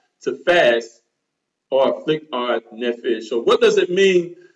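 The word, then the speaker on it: נֶפֶשׁ: or the Hebrew word nephesh, what does that mean? All right. Todayah. Yah is Tob. Very, very Tob. Okay. So the word soul in the Hebrew is pronunciated nephesh.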